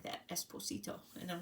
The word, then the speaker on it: Esposito: say it like that, Esposito, and I'm like, that's so cute. It's just Esposito, like it's a Z sound, but it's cute.